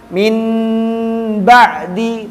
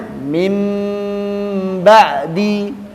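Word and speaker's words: من بعد: Berarti bukan min ba'di, tapi bacanya mim ba'di. Caranya dirubah bacanya menjadi mim sukun.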